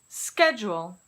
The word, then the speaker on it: schedule: Words pronounced like school typically come into English from Greek, Latin, or Italian. Schedule, schedule.